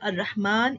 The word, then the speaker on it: الرحمن: كلمات فيها ألف تنطق ولا تكتب: ألف المد الموجودة في أسماء الإشارة كهذا، هذه، هذان، هؤلاء، ذلك، كذلك، أولئك. إذن عزيزي الطالب هذه الكلمات نقوم بلفظ الألف ولكن لا نكتبها. ألف المد في الضمير المبدوء بهمزة مع هاء التنبيه: ها أنتم، ها أنتما. ألف المد في الله، الرحمن، إله، لكن، طه، التنوين.